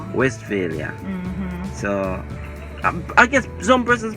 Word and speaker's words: Westphalia: where west area west this is incorrect pronunciation though yeah but the right pronunciation is west failure westphalia so i guess some persons probably just came by with the west west failure business and then we